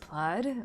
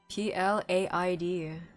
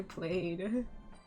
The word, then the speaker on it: plaid: Why is it pronounced plaid when it's written P L A I D?